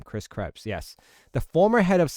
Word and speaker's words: Krebs: Chris Krebs.